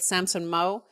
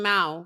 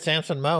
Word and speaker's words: Samson Mow: the week after with Samson Mow. I've always called him Mao, but I guess he calls himself Samson Mow. He said Samson Mow in the interview, so